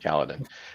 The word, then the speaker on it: Kaladin: And am I pronouncing that right now that I think about it? Yep, Kaladin.